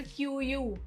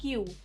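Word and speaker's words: queue: क्यू को अक्सर क्यू यू भी बोल देते हैं कई बार, बट the correct pronunciation is क्यू, simply क्यू।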